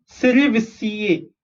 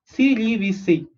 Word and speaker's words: cerevisiae: Saccharomyces cerevisiae. Okay, how do you pronounce this? CEC, RE is re, VI is V, SI is C, A is A. Okay, cerevisiae.